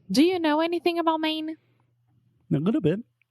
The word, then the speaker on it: Maine: it yeah I mean it's the same way that we say main right just like Main Street or the main point